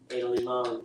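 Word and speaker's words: Ada Limón: Ada Limon, Limon with an accent, I believe, over the O.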